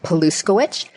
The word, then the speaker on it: Paluskowicz: So for those of you taking notes, my name is Paluskowicz, and Paluskowicz is spelled the exact way it sounds, Paluskowicz.